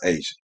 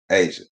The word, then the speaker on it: A'ja: boys with their name a apostrophe j a is pronounced asian yep asian say it right and get over how